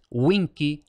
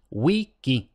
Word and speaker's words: vici: ninguna parte por tanto no es Winky no es winchi no es wiki igual que Wikipedia y luego como ya he adelantado la c se lee como K no Wii bichi vinchi no